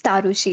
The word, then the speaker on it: Tarushi: Okay, it's Tarushi. It's pronounced with double A.